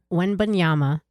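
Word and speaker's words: Wembanyama: past like year and a half say it when Bama oh is it bad I don't know it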